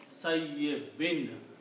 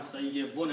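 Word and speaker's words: كصيب: So the word with the kaf will be pronounced sayyibin, not sayyibun anymore.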